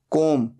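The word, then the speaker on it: comb: hanging wires बाल बनाना कोम सी ओ एम बी यहां पर बी साइलेंट होता है सिर्फ बोला जाता है कोम तीन फॉर्म्स होती हैं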